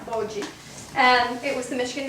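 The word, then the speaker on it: Boji: B-O-J-I. yeah, B-O-J-I, Bogie.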